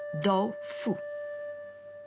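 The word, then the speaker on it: 豆腐: 2 caractères qui se prononcent do-fu.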